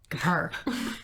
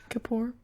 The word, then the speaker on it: Kippur: Kippur. And how do you say it? Kapoor.